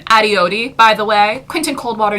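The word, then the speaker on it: Adiyodi: First of all, putting Quentin on my hit list once more, just for good measure, he doesn't know how to pronounce Penny's last name. Adioti, by the way.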